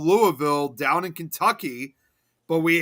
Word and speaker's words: Louisville: pronounced instead of Louisville, it's called Louisville. Here too. There's one here in Colorado, but in Kentucky, it's Louisville. Yeah, but yeah, in Illinois, it's Louisville.